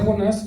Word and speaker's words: Jonás: El estudio del libro del profeta Jonás, quedamos que llevaba acento en la A, por favor, el cual lleva por nombre elegidos para ser un instrumento de Dios.